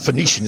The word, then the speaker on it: Phoenician: drowned finnish and sailor phoenician is the more usual pronunciation but elliot finishing and